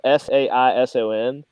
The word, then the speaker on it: saison: It's spelled Saison, but it's like it's a seasonal.